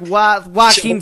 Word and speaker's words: Joaquin: Well, it's written as Joaquin. But if you just think of it like Joaquin Phoenix.